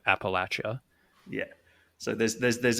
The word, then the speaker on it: Appalachia: say up near you yeah Appalachia Appalachia that's it yeah yeah as opposed to Appalachia yeah so there's there's